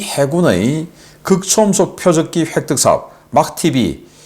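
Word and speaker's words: MACH-TB: 그 테스트를 하기 위한 표적기로 막TB 이렇게 마하라고 읽을 수도 있는데 이 약자니까 막TB라고 읽겠습니다.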